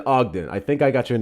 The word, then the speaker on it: Ogden: Short O sound. The OG in Ogden rhymes with cog or dog as in Ogden.